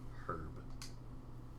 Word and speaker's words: herb: you pronounce as green do you say the h or the no no h herb some people say herb and i'm like it sounds weird it's like herbie i mean some people